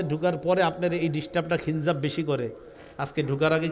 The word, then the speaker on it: খিনজাব: ডিস্টার্ব করে নবীজি বললেন যাকা শয়তান ইউকালু লাহু খিনজাব এটা একটা শয়তান তার নাম হলো খিনজাব বলেন